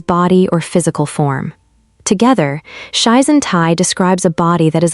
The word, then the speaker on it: shizen tai: It is called shizen tai, pronounced shizen tai.